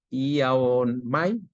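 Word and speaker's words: ἰάομαι: La palabra sanados, del griego iaomai, ia con acento en la ia, omai, significa curar, renovar, sanar.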